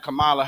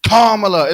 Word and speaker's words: Kamala: She kept saying Kamala Harris, but they was like, it's Kamala. Kamala, right.